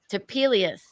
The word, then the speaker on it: Topelius: anthony ancho um cidery rachel how do you pronounce your last names typically to peelius that's a weird one it's new to me